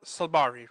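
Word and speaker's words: Saibari: Um Ismael Sabari, right? Correct? Sabari, yes. okay. Sorry to any Moroccans out there. My apologies. I'm can't pronounce right now.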